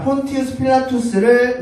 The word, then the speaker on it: 폰티우스 필라투스: 자, 폰티우스 필라투스를 우리 식대로 발음하다 보니까 본디오 폰티우스가 본디오가 된 것이고 필라투스가 빌라도가 된 것입니다.